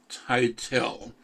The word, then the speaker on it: Tytell: new executive director tytell and you can correct me if i'm pronouncing the name properly how are you i'm doing really well thanks it's tatl rhymes with dreidel i'm also asked well